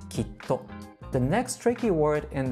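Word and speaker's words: きっと: When two same consonants are combined in Japanese, there will be a quick pause in between the previous syllable and the later syllable. So for this word, instead of saying kito or kito, we say kitto, kitto. Notice there is a small pause in between ki and to, and it will sound like kitto.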